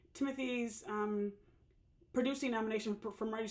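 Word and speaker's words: Timothée: that's all right uh Timothy Shia at or Timote say Timote every now and then because that's supposed to be pronounced that way whatever at age 30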